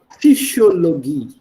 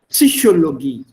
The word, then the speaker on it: Psychologie: Every single letter, every single syllable is to be pronounced. So in German, it is not psychology, it is Psychologie. Get up. Psychologie.